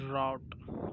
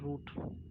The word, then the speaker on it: route: This is route. Got it? Never call it root.